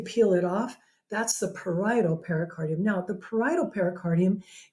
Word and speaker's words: parietal: is the parietal pericardium that word is parietal although you might spell it right if you call it